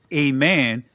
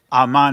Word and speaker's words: Amen: Amen is Greek. A man is the original pronunciation.